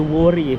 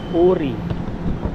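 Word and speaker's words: Wuri: Ang pronounce po ng worry ay ori daw eh. Hindi worry eh. Uri.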